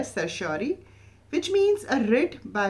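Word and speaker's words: certiorari: definitely don't recommend uh you know calling it sirari it is called as sersi and also you can check it on Google the pronounciation exact pronunciation for this word the spelling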